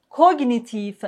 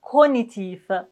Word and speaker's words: cognitif: Comme par exemple, gnome, gnose, gnou, magnum, diagnostic, stagnant, cognitif. Mais attention, pour ce mot, on peut dire aussi cognitif. Cognitif, cognitif. Toutes les deux prononciations sont possibles.